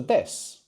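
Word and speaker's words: です: The same goes for des, which is written de su, no? But we don't pronounce that final u.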